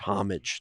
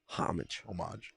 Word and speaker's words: Homage: I believe it's pronounced homage, Derek. It is not pronounced that way. Homage. There's a hard H at the front. Yeah, a hard H noise.